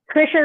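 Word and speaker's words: Krischer: Kreischer or Krisher? Krisher rhymes with Fisher.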